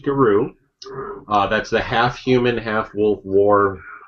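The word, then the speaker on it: Gauru: Oh, hey, there's a pronunciation in the lexicon section. What? It is Guru. Alright, you talk about this a little second. I'm going to grab it. Okay. Yeah, apparently it is pronounced Guru.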